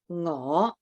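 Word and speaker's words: 我: It is your ngõ. Do you want to have a go at repeating these? Ngõ. Ngõ. Ngõ. Now that's your 5th low rising tone. So it's ngõ. It has that swing up.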